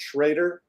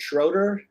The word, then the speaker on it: Schrader: I pronounce it Schrader. Other people pronounce it Schroeder.